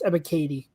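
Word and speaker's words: Ebiketie: Yeah, it's pronounced Ebikadi. I always am tempted to put a different pronunciation on that one E, but it's Ebikadi.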